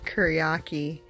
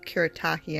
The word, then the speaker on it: Kuretake: In my previous video, I said the name wrong. I called them Kuretake, and that was wrong. So Kuretake, I'm pretty sure is how they're pronounced.